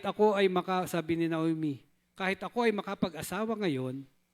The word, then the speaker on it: Naomi: Tama po ba yung pronunciation ko? Naomi yon.